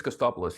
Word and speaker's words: Costopoulos: Dr Costopoulos: In English it's Costopoulos yes. Abhijit: Costopoulos.